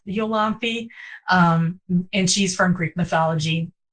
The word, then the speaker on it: Iolanthe: And then the same with, I say Iolanthe because that's how they say it in Gilbert and Sullivan. Although I had one interviewer pronounce it Yolanthe, and I think she's probably correct.